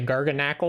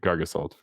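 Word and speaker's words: Garganacl: uh garga and I'm curious how you say this Holden you say gargan Ackle or do you say gargo salt oh I'm pretty gigantical but uh I do like garga salt better yeah I pronounced all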